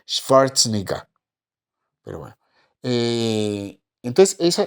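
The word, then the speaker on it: Schwarzenegger: figures de esos y no se dice swarzeneger se dice schwarz n Pero bueno Eh entonces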